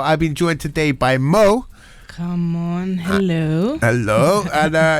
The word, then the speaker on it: M.O.E: So anyway, right, for anyone who's just tuned in, okay, I've got Mo, okay, or as it's spelled M.O.E.